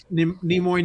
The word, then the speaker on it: Nimoy: i have heard leonard nimoy namoy um say his name maybe in some older videos but i have heard nemoy and i think i have heard it from leonard himself but getting back to